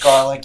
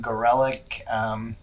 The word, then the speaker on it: Gorelick: I do get garlic, yes, and then Gorelick. Some people do pronounce it that way.